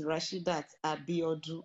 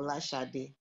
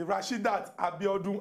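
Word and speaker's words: Rashidat Abiodun: you just pronounced now my name is rashidat abby audrey i do okay i'm not for lashade oh okay okay rashid that abiodun i do thank you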